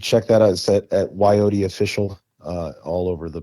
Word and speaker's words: Wyote: I also have a project in Belgium called Wyote. It's spelled like Coyote, but with a W.